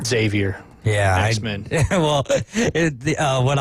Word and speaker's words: Xavier: I first started here I would call him Xavier all the time and people Xavier Xavier I'm like well why' they spell it with an X then yeah just put a z you from an X to a z right on but yeah